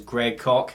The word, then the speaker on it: Greg Koch: For the two people watching this that don't know who that is, the guy's name is Greg Koch, rhymes with chalk.